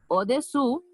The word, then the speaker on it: au-dessous: Au-dessous de. Ça va? C'est important de voir la différence de la prononciation. C'est au-dessus, au-dessous. Au-dessus, au-dessous. Ça va?